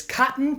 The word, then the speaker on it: cotton: was written in Britain or I've gotten this cotton curtain in Manhattan so the way to pronounce this sound is by not releasing the